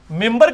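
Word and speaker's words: منبر: ممبر کے سپیلنگ کیا ہے؟ من بر، لیکن پڑھا کیا جاتا ہے؟ کیوں؟ کیونکہ نون کے بعد، نون ساکن کے بعد بار ہے.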